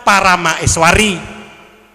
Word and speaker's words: permaisuri: Seperti juga permaisuri. Itu ada bukunya yang diterbitkan sama Faiz tuh. Tulisan saya itu, permaisuri. Karena ini ya, suri ya. Ini harusnya dibaca Paramaeswari, istrinya Dewa Wisnu, Paramaeswari.